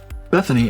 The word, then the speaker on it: BethINI: BethINI, and yes, that is how it's pronounced, is a tool you can download to